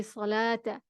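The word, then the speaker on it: صلوٰة: So for example, in this word, we say salata. The wow, because it's a carrying letter, it's silent.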